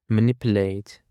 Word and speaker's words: manipulate: And for the following word, we have manipulate. Manipulate. The stress on the second syllable.